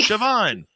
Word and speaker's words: Siobhan: Bet she didn't think I would pronounce her name properly, but I did. I actually just learned that yesterday. Siobhan.